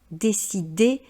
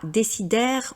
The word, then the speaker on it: décider: C'est bien le son et, continuer, décider, et non pas décidaire ou continuaire comme je l'entends fréquemment parce que les personnes ont tendance à vouloir prononcer toutes les lettres à l'anglo-saxonne.